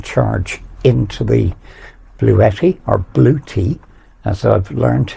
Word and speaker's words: Bluetti: As you'll have seen, I'm now getting charged into the Bluetti, or Bluetti, as I've learned it's actually pronounced over the last couple of days.